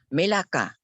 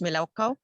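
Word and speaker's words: מלאכה: Melaka. Pronunciation is Melakaw.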